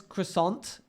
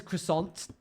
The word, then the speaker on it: croissant: somebody uh no yes I'm aware the you don't pronounce the t in French but if someone says croissant to me I'm not